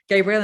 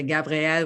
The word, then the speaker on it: Gabrielle: yes it's slightly mad my name's pronounced gabriel and spelt gabrielle no one ever explained why